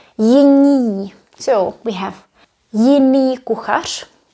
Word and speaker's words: jiní: N can be followed by I or Y, it's okay. But the pronunciation changes. We say jiní.